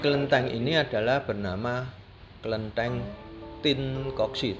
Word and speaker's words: Tien Kok Sie: Nah, Jadi kelenteng ini adalah bernama Kelenteng Tin Koksi. Tulisannya TIEN, bacanya Tin. Tim. Karena itu ejaan lama dari ejaan Belanda.